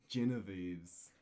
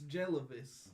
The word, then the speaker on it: Jellivis: Genevieve's. What? No, it's Jellivis.